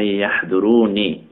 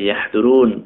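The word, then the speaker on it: يحضرونِ: আউযু বিকা রব্বি আন ইয়াহদুরুনি, মানে আই ইয়াহদুরুন ওয়াকফ করলে তো এভাবে আসে, কিন্তু আমাকে যেভাবে শেখানো হয়েছে সেটা হলো আই ইয়াহদুরুনি, শেষে নুন জেরের উচ্চারণ করে রব্বি আউযু বিকা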